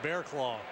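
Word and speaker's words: Barraclough: two spelt Barac cloth but it's pronounced bearclaw much cooler isn't it bearclaw you should call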